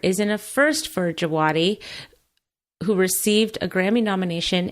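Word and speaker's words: Djawadi: nomination for composer raymond de Watty did I say that right I mean javadi thank you Ramin javadi I don't I I'm terrible at pronouncing well you'd never guess based on the spelling but I know cuz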